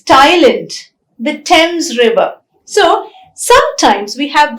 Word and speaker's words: Thames: bathe is the verb in a few words this th combination is not pronounced as f or the it is pronounced as ter for example t-h-o-m-a-s is